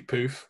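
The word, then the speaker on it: pouffe: played it on my puff in our old front room yes um my pronunciation would be poof but that's okay um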